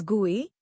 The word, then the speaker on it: GUI: Windows is a graphical user interface, GUI pronounced as GUI, between a computer and its user.